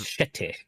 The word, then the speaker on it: City: You pronounced it wrong, sir. It's shitty. Shitty.